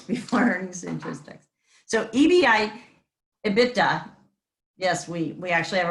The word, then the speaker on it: EBITDA: there it is before earning statistics so ebi ebitda yes we we actually have a pronunciation for that in accounting presents or ebi